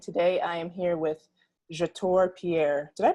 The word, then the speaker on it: Jator Pierre: Asia Ophelia and today I am here with your tour Pierre did I pronounce that right I didn't even ask you